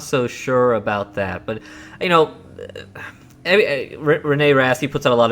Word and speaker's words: René Rast: Yes, this is René Rast.